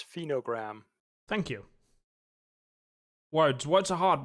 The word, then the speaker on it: Phenogram: as for that word you couldn't pronounce, it's phenogram.